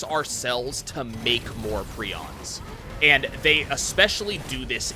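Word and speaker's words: prions: in get some health over here what are prons so p r i o NS is the way that one is spelled it is a um they're they're not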